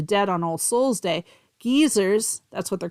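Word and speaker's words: guisers: prayers for the dead on All Souls day geezers that's what they're called in Scotland there it's spelled guys gu i s e r s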